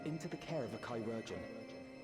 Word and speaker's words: chirurgeon: We need to see you back to Tuliyorol and into the care of a chirurgeon. That's how you pronounce it. What? Kyurjin.